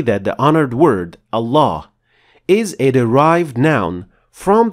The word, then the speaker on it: الله: lam, which means that the two lams now are assimilated into one full mouth lam, which is then the word Allah.